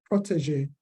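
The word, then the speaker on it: protégé: well as customer statuses pronunciation of the word Protege because the G sound is like a d and z and then the a a which is not so so English sauce also talked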